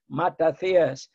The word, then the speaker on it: Matathias: And my father, may rest in peace, will quell just to think that there are people who pronounce the name properly, Matathias, because in Greek there is no I.